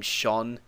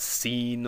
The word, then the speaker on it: Sean: And then, okay, so Sho Ishibel, when a slender vowel is near an S, it becomes an SH sound, as in the name Sean. So that's why it's not seen or some other or seon or some weird pronunciation like that. The SE makes it an SH, and then you just pronounce the AN afterwards.